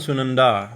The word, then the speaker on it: Sunandā: So Sunanda, the Sunanda and Sunandā. Sunanda is a feminine form, she who in this form, right? Sunanda means pleasing or delightful, right? And Sunanda with a long A at the end, right?